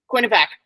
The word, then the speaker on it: Quinnipiac: Quinnipiac.